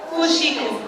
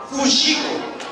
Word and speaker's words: fuxico: Fuxico. Fuxico.